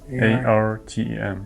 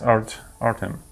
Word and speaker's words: Artem: How do you spell it? A-R-T-E-M. It's Artem.